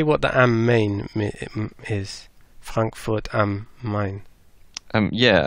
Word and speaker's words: Main: Frankfurt am Main. Main. Yeah, it is Main. I was. Tante Google says Main.